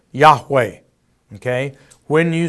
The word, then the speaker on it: Yahweh: If you use a modern letter Vav, you say Yahweh. If you use the ancient pronunciation Wow, you say Yahweh. It's a W sound.